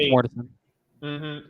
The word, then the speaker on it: Mortensen: I know I butchered his last name. I'm sorry. But he passed away. You got it right, Mortensen.